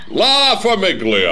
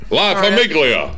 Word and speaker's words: La Famiglia: La Famiglia. Yeah, that's he said right. Pronounce the G. La Famiglia.